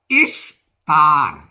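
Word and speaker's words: Ishtar: ഉപസംഹാരമായിട്ട് നമുക്ക് ഇങ്ങനെ പറയാം ഇഷ്താർ ഇഷ് എന്നാണ് ഉച്ചാരണം ദേവിയുടെ ഈസ്റ്റർ എന്നല്ല രണ്ട് ബാബിലോണക്കാരുടെ ദേവിയുടെ ഉത്സവമായി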